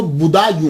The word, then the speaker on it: بدایوں: گے، مسلمان بھی ہیں۔ اس کا تلفظ جو ہے وہ بدایوں ہے، کیونکہ یہ پرنس بوڈا جو ہے نا، اس کے نام کے اوپر اس سے یہ منسوب ہے، تو اس لیے اس کو بدایوں کہا جاتا ہے۔ لیکن بعد